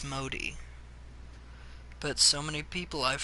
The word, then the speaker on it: Modi: a video of people playing this so the pronunciation tip there its Modi not Maudie mode ah the great dining hall envy of